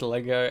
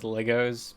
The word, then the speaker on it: Lego: The amount of fucking people I just see that pronounce Lego as Legos pisses me the fuck off.